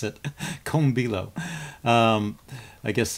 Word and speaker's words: Kombilo: There was instructions on how to pronounce it. Comilo.